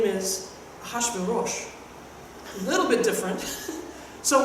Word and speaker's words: Ahasuerus: They tell you to pronounce this roughly. Ahasuerus.